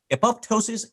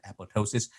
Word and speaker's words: apoptosis: appeals silent uh so the same way it should be pronounced in apoptosis but uh it's a